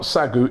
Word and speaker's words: Sagoe: We'll remember that and hopefully we'll go, Sagoe! Yeah, Sagoe. Say goal, there we go.